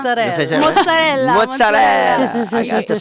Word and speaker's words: mozzarella: some mozzarella. Mozzarella. Mozzarella. Mozzarella. I got to say. You got to pronounce all the letters.